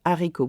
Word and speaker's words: haricot: Now, in this case, haricot begins with an H, but it's an H aspiré. We do not make the liaison between des and haricot. We don't say des haricots verts.